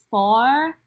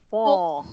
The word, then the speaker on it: four: OR is pronounced like oh, not Oh. aw. Okay. So just like in tension, it's not ea. So in OR, it's oh, not aw. So Four.